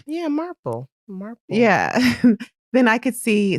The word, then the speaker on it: Marple: Christie's character um Mrs Marple uh am I pronouncing that correctly yeah Marple yeah then I could see someone loving a